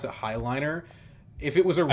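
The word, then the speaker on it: Heighliner: And I don't think I need the Hayliner.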